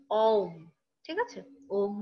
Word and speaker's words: ওম: যদি আমরা এমনি মুখে বলি সেটা হচ্ছে অম, ঠিক আছে?